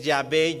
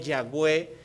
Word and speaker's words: Yahweh: el nombre de Dios, que por cierto no se puede pronunciar, por eso es Yahvé, Yahweh, que la traducción que por años hemos llevado del castellano antiguo lo transliteró a Jehová, ¿sí?